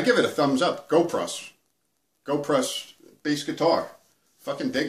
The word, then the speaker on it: Goplus: u s but but it's pronounced go prus because it's Chinese um so that's what